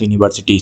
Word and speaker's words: university: So U is vowel, but when U will be pronounced like U or wa, then we have to give we have to consider this as a consonant. Okay, so university still it will be A.